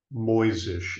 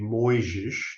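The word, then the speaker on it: Mojzsis: European spelling it's typically moisish it could also be moisish depending on whether or not you know Hungarian or or Slavic languages uh or even German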